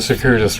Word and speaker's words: circuitous: Oh, circuitous. Yeah, circuitous, not circuitous.